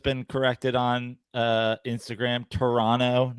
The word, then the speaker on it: Toronto: corrected on uh Instagram Toronto not no t no second t yeah Toronto yeah that's how you say it um actually my